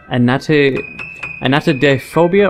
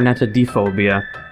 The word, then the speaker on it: Anatidaephobia: I think you can pronounce it Anatidaephobia or Anatidaephobia, but maybe there'll be people still in the comments. They'll be like, Neco is supposed to be Anatidaephobia. You're all wrong.